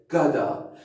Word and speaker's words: gotta: اول تلفظش رو گوش بده. گادا.